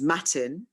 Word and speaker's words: Motin: traditionally bengali depends again depends on pronunciation is matin like m-a-t-i-n but um i suppose what it should have been was muthin which is m-o-t-i-n okay and what would